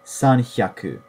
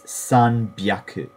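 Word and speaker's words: 三百: 300 is not sanhyaku. That's incorrect. It's sanbyaku.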